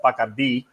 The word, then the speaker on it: Bacardi: In Spanish, it's pronounced Bacardi.